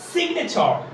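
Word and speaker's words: signature: ইউ আর ই দেখো শেষে যদি এরকম থাকে টি ইউ আর ই থাকে তাহলে তার উচ্চারণটা চার হবে রাইট তাইতো সিগনেচার সিগনেচার সিগনেচার এখানে তিনটি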